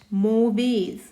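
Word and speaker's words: mauvais: bone clear now next मोवेज मोवे अब इसमें जो एस है वो साइलेंट होगा मोवे क्लियर है दिस इज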